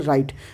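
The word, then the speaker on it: write: डब्लू is silent if a word begins विद डब्लू आर से शुरू होने वाले शब्द में डब्लू साइलेंट हो जाता है। फॉर एग्जांपल राइट, अगर कोई शब्द डब्लू आर से शुरू हो रहा है तो डब्लू साइलेंट होगा, जैसे राइट, उसी तरह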